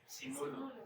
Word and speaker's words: Sinulog: Sinulog.